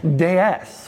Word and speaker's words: DS: In French, DS is pronounced as DS, which is also the French word for goddess.